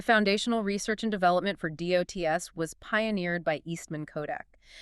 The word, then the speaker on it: DOTS: It is called DOTS, Digital Optical Technology System. Remember, pronounced dots.